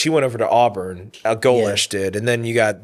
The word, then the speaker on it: Golesh: But I think going back to Alex Golesh, that's how you say it.